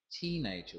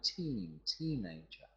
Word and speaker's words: teenager: One of the most commonly mispronounced word, in my experience, is the word teenager. Teenager. We've got the stress on the teenager. So many people mispronounce that word and say teenager.